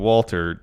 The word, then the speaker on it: WALTER: Oh, it was Walter. Yeah, that's the proper German pronunciation.